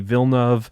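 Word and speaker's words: Villeneuve: um i'm a huge fan of uh denny vilnev i believe that's how you pronounce that the director who did arrival sicario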